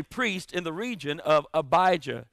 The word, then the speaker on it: Abijah: in the region of abijah it's pronounced like elijah and abijah means my